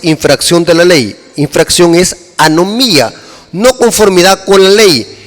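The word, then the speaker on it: ἀνομία: mateo 723 para maldad es una palabra griega que se pronuncia a no mía esta palabra significa en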